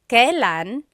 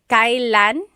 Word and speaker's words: kailan: Kailan nangyari yun? Nangyari means happened, and then yun means that. Kailan nangyari yun? And then just a pronunciation tip, it's pronounced kailan, kailan, but you will often hear it pronounced kailan, kailan.